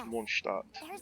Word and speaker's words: Mondstadt: that you mention it, Mondstadt, which is a German word, it means, world city. Which doesn't make too much sense, but, you know, whatever. That's how you pronounce it, is Mondstadt. But they kind of Americanize it, which is fine, obviously.